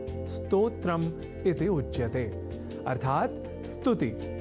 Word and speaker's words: स्तोत्र: यहाँ हमने स्तोत्र के उच्चारण और लेखन पर दिया है विशेष अवधान, अर्थात स्तोत्र में अर्ध सकार के बाद त और ओ इन दो अक्षरों का संयोग है और इसके बाद त्र इस संयुक्त अक्षर का। यदि हम यह ध्यान में रख लें तो कभी भी स्तोत्र के स्थान पर स्तोत्र या स्रोत जैसे उच्चारण या लेखन हमारे प्रयोग में ही नहीं रह सकेंगे।